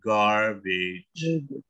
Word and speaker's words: garbage: Nah, berarti kalau sampah itu garbage. Jadi bacanya R ya, garbage.